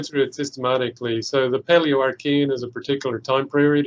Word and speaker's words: Paleoarchean: How do I pronounce this? Paleoarchean? That's correct. Paleoarchean, yes.